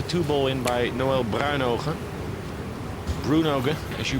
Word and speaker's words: Bruynooghe: Bruynooghe, as you pronounce it.